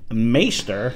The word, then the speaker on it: Maighstir: of both the United States in Scotland in maester that's how this is actually pronounced if I it maer is what it